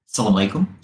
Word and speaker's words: assalamu alaikum: Is it Assalamu alaikum or Salam alaikum? Both. Assalamu alaikum. Assalamu alaikum. Everyone in different parts say it like different way, but it's assalamu alaikum.